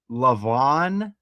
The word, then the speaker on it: Lavon: Patrick Mahomes middle name is uh Lavon, which is Michelle Obama's middle name. It's just spelled differently. And Vaughn rhymes with John.